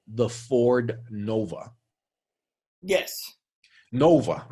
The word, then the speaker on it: Nova: Well, Miss Pettitt, do you know what Nova translates in Spanish? I can't imagine it's something good. So Nova, supernova, Nova, in Spanish, when you pronounce it, it's pronounced as Nova. No, va, go. No go. Does not go.